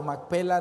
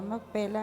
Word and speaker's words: Macpela: Macpela, ¿verdad? Porque está el acento en el P, ¿verdad?